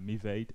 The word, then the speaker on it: Mevade: malware is pronounced um i always call it mevada for some reason but uh it may as well be me vade and when i asked